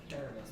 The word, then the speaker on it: caramel: Caramel or caramel? Caramel's the correct way to say it. We are at a gala. It is caramel.